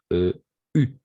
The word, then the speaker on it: eu: En effet, U. On va essayer à prononcer surtout le U, comme le U.